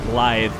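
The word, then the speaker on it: Blaidd: too I think it's his name is pronounced live even though it's b-l-a-i-d-d because it's I think it's like Welsh organic for Wolf ouch after the star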